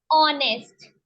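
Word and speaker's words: honest: कौन सी साउंड आ रही है इसमें? एच साइलेंट है। ऑनेस्ट, आपको आवाज से पहचानना है।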